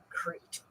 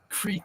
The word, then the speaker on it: Creat: And I love that they spell it C-R-E-A-T. Crete. Crete Star Show.